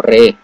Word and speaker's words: Re: Es bueno, de hecho, se pronunciaría más como Re, como rey, pero quitándole fuerza a la griega. Entonces Re, como más o menos como que está, pero no, la griega. Entonces rey, pero Re, rey.